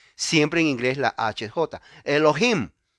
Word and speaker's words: Elohim: muda in lo dicen por eso se llama Elohim en inglés Elohim siempre en inglés la hj recuerde Aquí está aprendiendo inglés siempre en inglés la hj Elohim o Elohim eso es plural lo cual significa